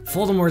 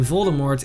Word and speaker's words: Voldemort: Rowling announced on her Twitter that the T in Voldemort is silent, but assures fans that she's the only one who pronounces it that way.